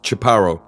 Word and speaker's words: Chaparro: It is, and then my last name, Chaparo. And that's pronounced Chaparro.